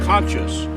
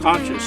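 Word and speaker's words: concha: use the mexican shells i think they're pronounced conscious conscious c-o-n-c-h-a but they're they're made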